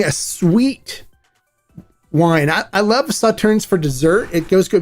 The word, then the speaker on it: Sauternes: Now, for this special edition, they aged the tequila in French Sauterne barrels. Now, it's pronounced different than it looks. It's spelled Sauternes.